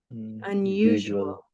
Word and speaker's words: unusual: word unusual unusual unusual can you hear that there's an invisible Y in this word unusual at the end of syllable